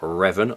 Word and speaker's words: Revan: Didn't realise I was doing it because I know it's Dark Revan, R-E-V-A-N.